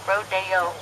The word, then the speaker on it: Rodeo: Drive in Beverly Hills so now here on America it's called Rodeo whenever you spell it out but only in Beverly Hills do we call it rodo everyone welcome to the